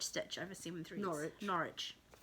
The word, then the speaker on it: Norwich: know they're in canada maybe they pronounce it norwich i know in america they say norwich um but if you're in england it's not rich yeah um so that